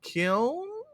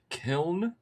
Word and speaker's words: kiln: And then we have um which I was told is pronounced as Kil Kil.